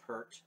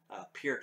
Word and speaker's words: Neil Peart: second album this is the first one with Neil Peart appear to excuse me peered is the correct way to pronounce it but this is a